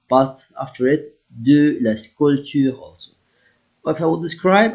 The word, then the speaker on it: sculpture: Je fais de la sculpture en batacelle. Here I don't pronounce the P.